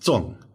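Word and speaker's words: zòng: But there's this other character with the silk radical on the left that would be pronounced Zong, so Z-O-N-G rather than C-O-N-G, and also fourth tone rather than second tone.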